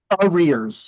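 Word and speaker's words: arrears: You know like your rear end rears.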